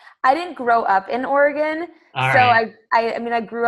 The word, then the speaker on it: Oregon: right is it Oregon Oregon Oregon they say like locals say Oregon and you can tell if someone is not local by Oregon right yeah totally let